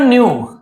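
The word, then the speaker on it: knew: है ना थे एवरीवन न्यू हर कोई जानते थे इसे हर बार बताता हूं। न्यू नो का सेकंड फॉर्म है तो के साइलेंट रहता है। इसको नहीं पढ़ते हैं।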